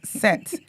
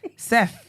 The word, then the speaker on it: Seth: I said, this is what you lot are pronouncing as Set. Seth. Like, TH.